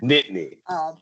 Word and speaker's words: Nittany: Nittany. Yeah, it's Nittany. Nobody outside of Pennsylvania ever pronounces it right.